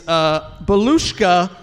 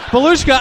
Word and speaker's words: Belushka: It's spelled Balusca, and then Belushka's given me the pronunciation, then added, when they